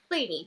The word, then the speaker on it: Slany: So Slany is how you say your last name, right? Slany, yeah.